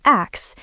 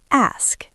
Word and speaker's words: ask: Many learners say "ax" or "aks". It's ask, ask. Practice ask, asked, asking.